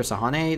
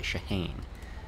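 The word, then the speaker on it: Shahane: tecc headquarters wait isn't Dr sahane the head of medical Shah ha okay let's try to pronounce things a little more correctly shahan officially yes but I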